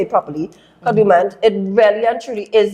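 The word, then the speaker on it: Kadooment: Because like when I've been there to Kadumant and doing all this stuff, Kadumant, let me say it properly, Kadumant, it really and truly is this.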